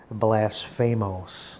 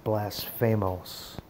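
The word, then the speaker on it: βλάσφημος: nine eight nine word and it's the word blasphamose that's how the phonetic pronunciation it's blasphamose and it means speaking evil slanderous reproachful railing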